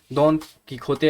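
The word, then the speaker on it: Don Quixote: Classic novel डॉन किखोते, या किखोते ही मुझे बोलना आता है, एक और भी प्रोनाउंसिएशन है इसकी, तो वो भी आप देख सकते होंगे क्या होगा, बट डॉन किखोते आप समझिए अभी के लिए इसकी जो प्रोनाउंसिएशन है।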